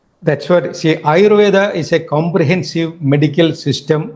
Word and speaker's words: Ayurveda: Ah, Ayurveda.